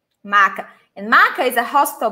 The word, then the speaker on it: maca: Mas muito cuidado com isso. M-A-C-A, just like this. Maca. Not maçã. Maca.